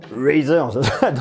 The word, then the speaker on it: Razer: réalité c'est que razer razer prononcé comme ça très à l'américaine razer est là pour